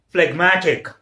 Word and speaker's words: phlegmatic: in the same syllable, but if we make a word phlegmatic, it's a P-H-L-E-G-M-A-T-I-C, then matic goes in the other syllable and phlegm remains, G remains in first syllable. So this is split into two syllables, so that's why G is pronounced, so it becomes phlegmatic.